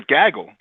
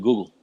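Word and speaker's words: googol: I thought it was a gaggle. No, it's actually a Google.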